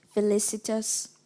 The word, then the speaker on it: felicitous: Am I pronouncing it correctly? Felicitous.